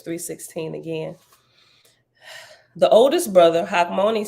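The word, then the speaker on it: Hachmoni: to say it again they should just put a K money means wise and it's pronounced mon me in Hebrew in English we typically pronounce it Hawk Moni all right I'll go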